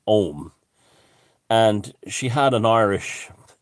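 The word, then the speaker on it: Ogham: it is phonetically spelt ogum even though it's pronounced ohm and she had an irish antiquities person i'll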